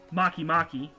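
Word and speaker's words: Makemake: Then there's Pluto, Haumea, and then there's my favorite, Maki Maki. I'm not kidding. It's actually it's spelled make.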